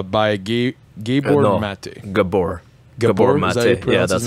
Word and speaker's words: Gabor Maté: says no uh by gay gay born or mate gabor yeah that's that's how you say it okay